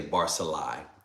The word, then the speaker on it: Barzillai: Let me just say Barzillai. That's how it will be pronounced.